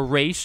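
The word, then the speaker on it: Ra's: can chalk up another villain now there's no ross so you know we're gonna get or a race depending on which of which pronunciation do you use on any given day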